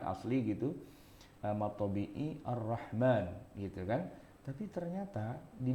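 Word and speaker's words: الرحمن: Cuma orang sedunia bacanya pasti mimnya dipanjangin, Ar-Rahman.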